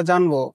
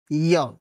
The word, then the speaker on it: য: কিন্তু আমাদের মতো মহান ব্যক্তিদের কে বলবে যে এই বর্ণের শুদ্ধ উচ্চারণ জ নয়, ইয়া।